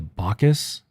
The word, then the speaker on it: Bacchus: the Baka part, the Bacchus, just think of the composer and us, like you and me, us. So that's the easiest way to remember how to pronounce it.